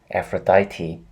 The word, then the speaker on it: Aphrodite: change it - yeah do that effort is Aphrodite that's how you pronounce the name mm-hmm wait what's gone right